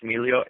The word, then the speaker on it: Miglio: Twitter uh at Alex Milo a l e x m i g l i o the g is silent uh so uh uh